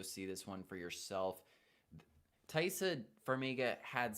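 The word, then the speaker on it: Taissa: Thaisa, thank you.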